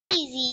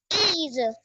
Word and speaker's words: 椅子: इज, इज, ई पे third tone है बच्चे।